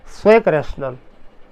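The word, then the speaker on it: Zweckrational: लिखा है, German word है, इसलिए हम इसका प्रोनाउंसिएशन करते हैं क्या, इसको हम पढ़ते हैं स्वैक रैशनल, ठीक है।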